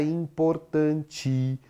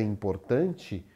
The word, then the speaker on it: importante: pensar só na palavra, a sílaba tônica está na penúltima sílaba. Ela é uma paroxítona.